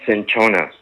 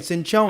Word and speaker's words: cinchona: All right, and the herb is called cinchona. It's okay. Cinchona. Okay, hold up. Let me spell the herb. Spell it for me.